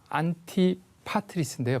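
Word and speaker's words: Antipatris: 안디바드리라는 것은 이게 그대로 발음하면 안티파트리스인데요.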